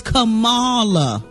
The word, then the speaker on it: Kamala: awesome i just realized we've been saying her name wrong the whole time it's kamala okay she said it